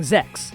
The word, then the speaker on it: Zechs: And that's not even including Zex, whose name rhymes with the sensual cravings he stirs.